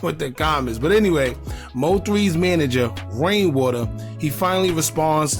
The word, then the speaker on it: Mo3: Everybody all in the comments, why you keep saying MO3 and his name is Mo 3. I finally got it. All right, so y'all can stop with the comments. But anyway, Mo3's manager, Rainwater, he finally